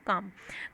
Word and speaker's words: calm: CALM, काम में एल जो है साइलेंट होता है, तो इसको हम सिर्फ प्रोनाउंस क्या करते हैं? काम।